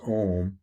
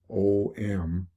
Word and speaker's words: Om: And the most basic mantra is Om, O-M, Om, or it can be pronounced A-U-M or Aum, Aum, or Om.